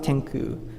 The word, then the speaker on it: XCOO: Well, about Tenku, as this logo shows, XCOO is pronounced as Tenku.